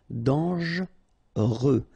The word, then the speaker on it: dangereux: Okay, so final X not pronounced, and then don't really pronounce this here. Dangereux.